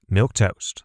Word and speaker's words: milquetoast: This word is spelt as if someone jammed together the words milk and toast, but then, maybe as a joke, they replaced the K in milk with the letters Q-U-E. It kind of looks like you should say it Milquetoast, or at least Milquetoast.